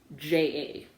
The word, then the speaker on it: Hamingja: instead of luck though, is Haminja. It's Hamingja. But the J is a ya sound, not a j sound.